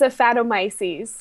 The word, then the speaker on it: Aphanomyces: So what is the correct pronunciation of this disease? It's Aphanomyces.